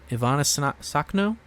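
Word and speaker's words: Ivanna Sakhno: Ivana Sakno? That's how you pronounce her name.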